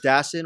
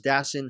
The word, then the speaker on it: Dassin: Jules Dassin, or you pronounce it 2 ways. In America, stateside, it's Jules Dassin.